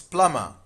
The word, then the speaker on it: plumber: So there is B and this is plumber. Plumber. In plumber B is silent.